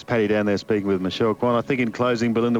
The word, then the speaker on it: Michelle Kwan: Brucey, just in closing, you might be interested to know, if ever you call it, that Michelle Kwan, that is how it's pronounced, has a brother, Ron.